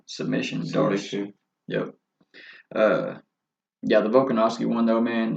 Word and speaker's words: Volkanovski: Like, so let's talk about how you pronounce his name? Alexander Volkanovski. Volkanovski.